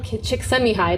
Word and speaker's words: Csikszentmihalyi: But this is actually also a real coined term, like in the dictionary, by Mikhail Csikszentmihalyi. That's actually how you pronounce his name.